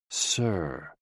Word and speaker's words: si: associated with the heart s i pronounced like Sir with a slow exhale which